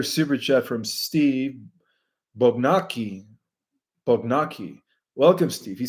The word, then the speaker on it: Bognacki: Bognacki. Welcome, Steve. He says, Bug Mackey. Okay, so that's how you pronounce it.